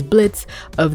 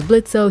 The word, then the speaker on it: Blitzo: He was Blitzo, he silenced the O, but then he goes back to being Blitzo. That's gonna be so cute. Where he finally accepts his name and, you know what, screw it. And now he's having to tell people, there's an O at the end, jackass.